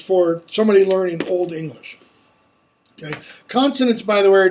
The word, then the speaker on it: ac: So if the C comes after or before an A, a O, or a Y, it's going to be k, like in the Old English word ok, AC, which means but.